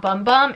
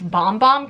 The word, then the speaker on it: Bum Bum: And it's actually not Bum Bum. It's Bomb Bomb cream, which is very funny when you really look at the words and the pronunciation of it.